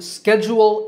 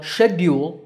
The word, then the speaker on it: schedule: Similarly, schedule is the American pronunciation, while schedule is British. Again, the first syllable is stressed in both accents.